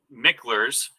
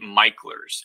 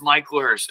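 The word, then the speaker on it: Mickler's: even though it is spelled mickers right it's actually MERS and that's something that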